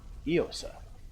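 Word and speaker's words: Íosa: According to the Durgar we've interrogated, the mind and one of the last things, Jesus in Irish is Iosa, pronounced as Iosa.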